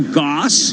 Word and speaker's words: Gass: By the way, Michelle Goss, which is how you pronounce GASS, the CEO, just now said some things about tariffs on Kohl's.